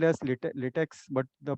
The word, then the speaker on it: LaTeX: Uh, Before I go into that, we pronounce LaTeX as LaTeX, LATEC, though it is spelled as latex, but the pronunciation is LaTeX.